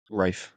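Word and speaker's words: Ralph: of all uh what how do you pronounce finds his first name rfe see he says that as well but isn't that an L yeah but he's Posh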